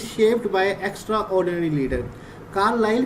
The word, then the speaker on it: Carlyle: रहा है according to कार्लाइल, इसको डिफरेंट प्रोनाउंसिएशन है, कार्लाइल भी कहते हैं, कार्लाइल भी कहते हैं। ठीक है, आप गूगल पे देख सकते हैं, गूगल में कार्लाइल कहा गया है इसको।